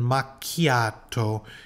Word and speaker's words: macchiato: two words in here Capuchino C is the CH Chi sound and makato is the k sound makato capucino makato and